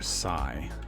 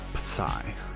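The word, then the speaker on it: psi: often denote for whatever reason the Greek letter Sai is often used believe that's a capital Sai some people will say Pai but I find that difficult to pronounce so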